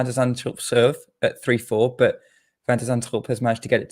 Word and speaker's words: Van de Zandschulp: Yeah, still a lot of people say like Van der Zandschulp, which is probably what your natural instinct will be, but it's actually Van der Zandschulp.